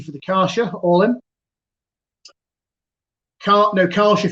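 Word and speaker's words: Kärcher: Karcher for me, not Karcher.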